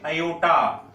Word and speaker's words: aorta: अब left ventricle से ये blood finally आयोटा, second blood vessel याद रखेंगे, आयोटा, AORTA, आर भी है लेकिन आर साइलेंट रहता है तो बोलेंगे क्या, आयोटा।